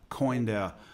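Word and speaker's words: Côn Đảo: Is it Gan Dao, or how do you pronounce it? Coin Dao.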